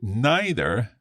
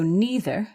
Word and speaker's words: neither: or we have so neither fish nor chips were british creations again neither or neither are both fine to say and this is yeah